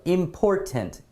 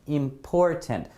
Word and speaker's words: important: pandemic right um so important important definitely the second syllable here here right important important so